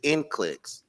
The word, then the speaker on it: NCLEX: How you pronounce it? It's NCLEX.